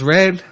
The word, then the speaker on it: R3D: Well, it's Red. It's spelled R3D.